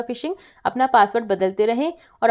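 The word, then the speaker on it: phishing: P silent है, हाँ, फिशिंग।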